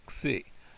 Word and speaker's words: xi: That sounds a little bit like our X, but it doesn't look like our X. This is a xi. And it has that x sound, sort of a ks sound almost.